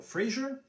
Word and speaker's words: Fraser: Now, some people pronounce it Colonel Fraser.